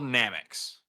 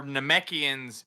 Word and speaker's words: Namekian: First, they're called Namex. They're Namekians in the source material.